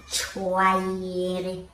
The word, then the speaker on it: choir: Yes, the CH is pronounced as K. Okay, sir. Say it. Chaos. Pronounce the next one. Choir.